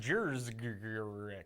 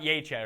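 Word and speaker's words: Juszczyk: Oh, you mean on this show, his name is pronounced Jers, not Yachek or Uchek. It's Jers.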